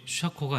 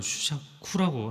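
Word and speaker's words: 周作: 엔토 슈샤코의 어떤 한 분이 슈샤코가 아니라 슈샤쿠라고 하더라고요. 네. 일본식 발음.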